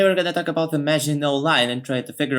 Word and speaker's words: Maginot: of this video is Maginot Line, which I pronounced wrongly in the previous video by the way. As it turns out it's Maginot Line, not Maginot.